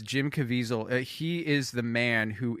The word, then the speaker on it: Caviezel: Italian last names anyway I think it's Jim Caviezel uh there's no L I think it's cavisil oh it's there's no l okay so it's Jim Caviezel he is the man